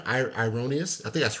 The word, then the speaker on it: Irenaeus: Uh, Erroneous says, am I pronouncing his name? Ironius? I think that's correct. Say Jesus Irenaeus.